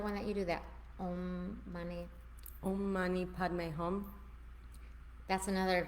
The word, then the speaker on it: Om: One of the very simple chants that you can do is just Om, which is actually 3 syllables. It's A, U, and M. So it's Aum.